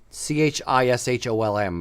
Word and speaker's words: Chisholm: found on Chisholm lands c-h-i-s-h-o-l-m is how you spell it hey pronounce it it's Chisholm um Chisholm lands in